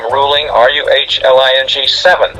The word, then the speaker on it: Ruhling: the author and the last name is ruling spelled with an H it's r-u-h-l-i-n-g as you see here